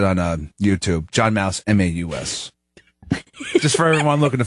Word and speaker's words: Maus: John Mouse, Maus.